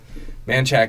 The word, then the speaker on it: Manchaca: Manchac is spelled Manchaca.